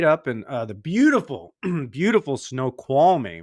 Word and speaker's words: Snoqualmie: Spent a night up in the beautiful, beautiful Snoqualmie, right? Did I pronounce it right? Yeah. Yes, Snoqualmie Valley.